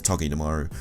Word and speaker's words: Togedemaru: I think it's a hard G, so it's Togedemaru.